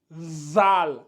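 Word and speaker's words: ذال: bien la vous vous votre objectif c'est de prononcer ici zal mais en mettant la langue au niveau des dents au niveau des incisives ça donne Z zal zal zal donc vous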